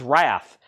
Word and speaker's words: Wrath: is wrath WR a it's not wraith it's wrath it is wrath all right Mega Death